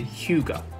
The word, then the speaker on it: Hyuga: But Hyuga is probably what gives people the most trouble. So you say Hyuga, right? But there are people who would put the H and Y together and then it will say Hyuga.